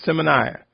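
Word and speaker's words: Symmanayah: m a n a y a h it's pronounced seminar the links are on this podcast channel just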